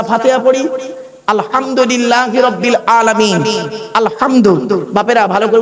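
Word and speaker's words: الحمد: পড়ি আলহামদুলিল্লাহি রাব্বিল আলামিন আলহামদু বাপেরা ভালো করে উচ্চারণ করে নিন মুরুব্বরা আলহামদু আলহামদু গলার তর থেকে উচ্চারণ করবেন আলহামদু আলহামদুলিল্লাহ মানে হচ্ছে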